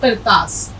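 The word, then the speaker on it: قرطاس: उसके अलावा करतास, ये आफरे ज़िक्र, तो अलिफ ज़बर ता और सीन साकिन, करतास।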